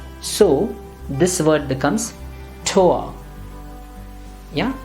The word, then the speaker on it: Tor: Continuing with the same logic, we now have O and R, and again the pronunciation is going to be O and not or. So this word becomes Tor. Yeah, not Tor, Brandenburger Tor, no.